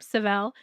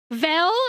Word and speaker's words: Seville: You can call me Seville if you're curious on how to say the name Seville. Or you can call me, and that works too. Somebody was like Vel, and I'm like, no, not Vel.